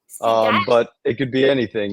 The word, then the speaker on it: Segal: Is it Segal or Segal? I like both. I'll go with either. It's Seagal mostly, but my family's from Mexico, so we say Seagal. Sigal.